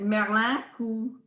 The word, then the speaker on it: Merlin: So we're looking at Merlin, and we say it like French because the elders also spoke French along with some Mobilian.